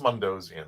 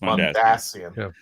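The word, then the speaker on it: Mondasian: I'm from Florida it's mondian I'm sorry mondian yes it's mondian pronunciation the emphasis is on the ass yeah that's why I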